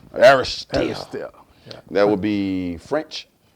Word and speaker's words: Aristhyl: go ahead and pronounce that last name so I don't mess it up. Aristhyl. Aristhyl.